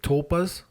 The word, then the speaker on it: tulpa: So we were talking earlier about the tulpas. That's how we pronounce it, tulpa.